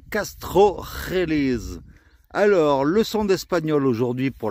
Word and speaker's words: Castrojeriz: La rota, c'est le J qui est là, qui se prononce toujours R. D'où le nom, la rota. Donc là, nous disons Castrojeriz.